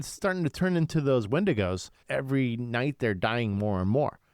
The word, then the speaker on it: Wendigos: Wendingos. Is that windo? Wendigos. Okay. They were starting to turn into those wendigos.